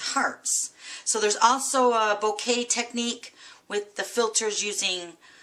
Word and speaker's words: Bokeh: with a technique called bouquet it's b o k h and it's pronounced like a bouquet of flowers and it's actually a